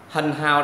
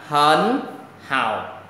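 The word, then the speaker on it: 很好: Hần hào đọc là hấn hào.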